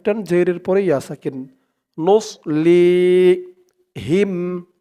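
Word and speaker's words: نُصْلِيهِمْ: যাবে বলতে হবে নুস মুখটা একটু ভরপুর হয়ে যাবে এমন মনে হবে সদের উচ্চারণটা করার সময় নুস লি লি এক আলিফ টান জের পরে ইয়া সাকিন নুসলি হিম হা দিয়ে মিম ধরবে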